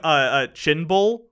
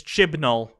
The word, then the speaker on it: Chibnall: So that's good, especially considering it's, by the way, we've been calling him Chinbull. It's Chibnall. That's the next showrunner. Chibnall. That's how you say it.